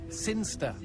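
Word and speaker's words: Sinchester: keister seen gesture Cynster what it's pronounced Cynster and you know my cousins from Cynster they did never mind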